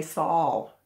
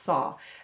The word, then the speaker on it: saw: l at the end some people say saul instead of saw it's pronounced saw and then some people